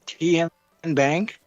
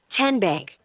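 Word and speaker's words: TNBank: TN Bank? Nope. Tin Bank? So what is it? 10 Bank. 10, as in Tennessee.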